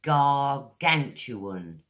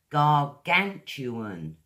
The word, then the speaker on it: gargantuan: First word I have for you is gargantuan. There's four syllables, guys. Gargan. Gargantuan.